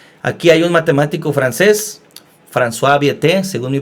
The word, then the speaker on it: François Viète: Aquí hay un matemático francés, François Viète, según mi pronunciación.